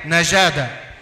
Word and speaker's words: نقاده: من كلمه هيروغليفيه وقبطيه تنطق في اللهجه القبطيه القديمه ناي قاده واللهجه القبطيه المعاصره نيكاتي التي تعني الفهم او المعرفه او الزكاه وبالعاميه الصعيديه نجادا نقادها من البلاد التي